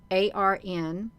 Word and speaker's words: An: saying it right so if it says a n it is pronounced a RN if it's a n a it's pronounced Arna they're talking about men